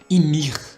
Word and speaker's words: Ymir: Que é o Titã fundador, o primeiro Titã de todos, que é a nossa personagem Ymir. Acredito que é assim que se pronuncia o nome dela.